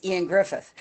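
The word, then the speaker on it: Ioan Gruffudd: He says, yeah, there was this guy that was in Fantastic Four, and it looked like Eoin Griffith, but when you actually look at the pronunciation, I said, it's Ian Griffith.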